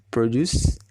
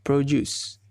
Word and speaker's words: produce: As a noun, produce dibacanya adalah produce. Dan as a verb, maka dia akan menjadi produce. Ada perubahan dalam vowelnya.